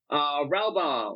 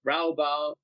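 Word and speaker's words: Raubahn: We have Ralbaum. Is that how you pronounce it? Ralbaum. It is today. If we go with the German, Bahn, so Ralbaum.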